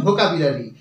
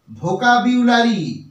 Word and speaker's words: vocabulary: এল এ আর ওয়াই আমরা সাধারণত এই বাক্যটাকে বলে থাকি ভোকাবুলারি ভোকাবুলারি বাট এটা কিন্তু সঠিক উচ্চারণ নয় এর সঠিক উচ্চারণ কি হবে আমি দেখিয়ে দিচ্ছি দেখে নাও এর সঠিক উচ্চারণ হবে দেখে নাও ভোকাবিউলারি ভয় উকার ক এ